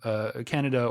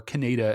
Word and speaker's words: Kaneda: The whole time, Tetsuo has been befriended in his youth by this guy named Kaneda, or Kaneda, as I think the original U.S. dub had it pronounced.